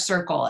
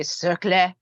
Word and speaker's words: Cercle: her business with Fresh Circle, it's, and am I pronouncing it the right yeah, way? yeah, yeah. Okay. That's yeah. If you're French and you want to say Cercle, you're more than welcome.